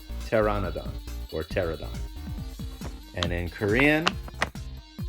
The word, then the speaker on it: Pteranodon: knew of so teradon this one's funny because the p is silent so we just pronounced the t t e tear ah no Don Pteranodon Pteranodon or pterodon and in